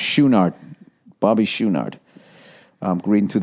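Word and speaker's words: Chouinard: Oh, by the way, his drummer, I guess, is pronounced Schoonard.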